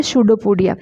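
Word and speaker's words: pseudopodia: यहाँ पे P silent है इसीलिए इसका प्रोनाउंसिएशन होता है शूडोपोडिया।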